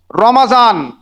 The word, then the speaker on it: রমাজান: নাম রমাজান মুখস্ত আছে অনেক নন মুসলিম আছে তারা রমজান বলে আর মুসলিমরা রমাজানটাই বুঝেন যেহেতু এটা সঠিক উচ্চারণ তো রমাজান এর অর্থ এর বাংলা অর্থ আমরা অনেকেই জানি আবার অনেকের জানা নেই।